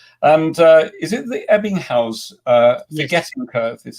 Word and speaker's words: Ebbinghaus: get his thoughts and uh is it the ebbinghaus uh forgetting the curve is that's how you pronounce it yeah good and your how your